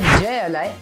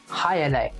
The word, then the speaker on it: jai alai: अब इसको लिखा जाता है जय अलाई, पर इसकी प्रोनाउंसिएशन है हाई अलाई। You know English is a funny language.